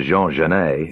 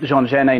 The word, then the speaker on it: Jean Genet: There was Lindsay Kemp, of course, doing Flowers, and that's, the Jean Genet novel, and that turned people onto Jean Genet. And if you mispronounce Jean Genet, you get Jean Genie.